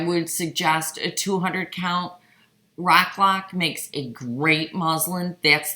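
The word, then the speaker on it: Roc-lon: Rock Lock makes a great muslin. That's the one I use all the time, and it's spelled ROCLOC.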